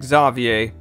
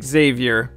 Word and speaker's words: Xavier: And yes, it's pronounced Xavier, not Xavier.